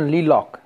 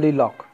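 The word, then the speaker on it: Leacock: इनके राइटर हैं स्टीफन ली लॉक। Spelling पे ध्यान देना है, LELOC के, दो का सी होगा आंसर, ठीक है, स्टीफन ली लॉक, ठीक।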